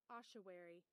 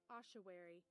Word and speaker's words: ossuary: You have learned with me what ossuary. How ossuary is pronounced. It's pronounced. Ossuary.